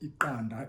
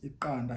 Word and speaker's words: iqanda: So you're pulling your tongue sort of like from the roof of your mouth. You're going, dropping it. And one of the examples that we gave is that iqanda is a word for